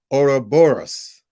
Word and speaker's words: Ouroboros: Let me pronounce it properly. Ouroboros.